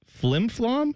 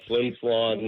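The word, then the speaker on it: Flin Flon: Is the name of your hometown Flimflom? Am I saying that correctly? You're saying it correctly. It's uh Flimflon, Manitoba.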